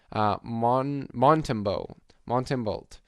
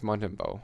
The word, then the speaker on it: Montembeault: Montembeault. I think it's Montembeault. I'm guessing it's a bit of a silent T there.